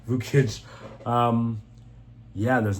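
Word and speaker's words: Vukić: But Yannik absolutely destroys Vuch Vuchic. I keep saying his name wrong. Vauich. Vukic.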